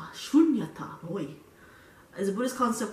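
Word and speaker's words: śūnyatā: So what he called it is sunyata. Emptiness, vacuity, sometimes voidness. Meditate. Okay, let me just Wikipedia, best friend Wikipedia. Pronounced in English as shunyata.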